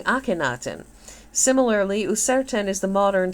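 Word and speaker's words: Akhenaten: like deia for example the name of the heretic Pharaoh was formerly read as kutin modern Scholars prefer the reading aktin similarly userin is the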